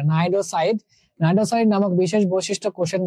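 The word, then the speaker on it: cnidocyte: নিডারিয়াটা কি, এই যে নাইডোসাইড, হ্যাঁ, সিটা উচ্চারণে আসবে না, নাইডোসাইড।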